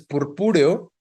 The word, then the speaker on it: purpúreo: Entonces, purpúreo es una palabra esdrújula y debería llevar tilde en la segunda U, purpúreo, ¿no?